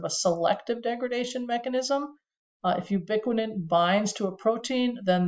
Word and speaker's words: ubiquitin: Ubiquitin sounds like the word ubiquitous, and it's a way they've discovered that tags a protein that needs to get broken down.